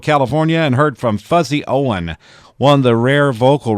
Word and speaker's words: Owen: tally records fuzzy Owen his name is fuzzy Owen not Owens and a lot of people mispronounce that when they're talking about Merl hagard they'll say yeah he was managed by fuzzy Owens no his last name was Owen or actually that is